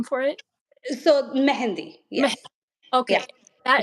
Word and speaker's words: mehndi: So is it pronounced Mehndi? Like the other name for it? So Mehndi, Meh.